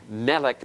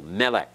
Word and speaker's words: Melech: Melech in Hebrew and Melech means king notice the accents on the first syllable notice the accent over that first syllable Melech is King that schwa